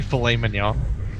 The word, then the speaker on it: filet mignon: that's just not correct at all it's actually filet mignon okay we have one adjustment on the live